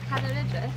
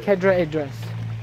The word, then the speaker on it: Cadair Idris: Oh, Cadair Idris. Oh, yeah. Cadair Idris.